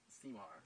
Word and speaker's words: CMIAR: We actually pronounce it CMAR.